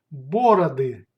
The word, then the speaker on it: бороды: Plural бороды. Бороды. Бороды. Stress goes to the first syllable in бороды.